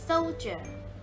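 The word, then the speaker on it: soldier: so เจอ พี่ SS โซลเจอร์ เขา เป็น ทหาร นะ คะ s o l d i e r อ่าน ว่า โซลเจอร์ คำ นี้ จะ เป็น คำ พิเศษ นะ คะ ไม่ ออก ตัว g นะ คะ จะ ออก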